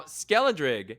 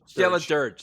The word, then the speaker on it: Skeledirge: Now, Skeledrig is awesome. Isn't it Dirge. Skeledirge? Skeledirge, thank you.